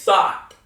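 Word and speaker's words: सात: Now it's spelled S-A-A-T, so you'd say it's sot, which means 7.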